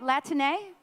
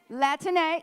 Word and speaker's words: Latine: Can you all say that, Latine? Did I pronunciate that correctly, folks? Latine, yay.